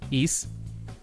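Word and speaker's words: Eese: How's it spelled? E-E-S-E. East. East.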